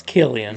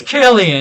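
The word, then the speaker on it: Cillian: vain San Murphy for it's Killian it's klian is it really it's klian are you kidding me I've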